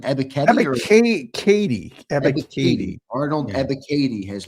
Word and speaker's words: Ebiketie: How do you pronounce the name? Ebiketie? Ebiketie.